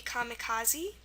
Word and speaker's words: kamikaze: Example would be kamikaze.